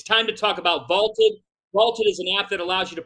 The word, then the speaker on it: VLTED: And by using the Vaulted Challenge feature, you can prove you're smarter than your friends. So go download the Vaulted app and give it a try for free. Vaulted is spelled VLTED, and it is the